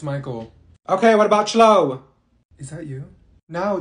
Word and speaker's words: Michael: say she's beating you mean Beatrice thank you Mikhail ma'am it's Michael okay what about slow no they look like